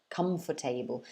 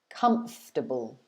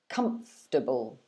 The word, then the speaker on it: comfortable: syllables by saying comfortable comfort table but actually it should be pronounced with three syllables like so comfortable comfortable so you're stressing the